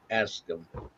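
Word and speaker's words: Askum: And folks, his name is spelled A S K U M. And that's for the simple reason when people say, "What's your dog's name?" I say, "Ask him."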